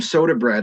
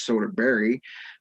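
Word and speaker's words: Söderberg: uh informed me that his name if you actually pronouncing it correct in swedish it's soda berry uh literally translates to southern mountains in swedish so i thought that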